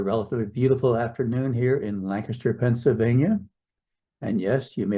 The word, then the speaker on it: Lancaster: It's a relatively beautiful afternoon here in Lancaster, Pennsylvania. And yes, you may have noticed I said Lancaster, not Lancaster, because that's the way it's pronounced locally.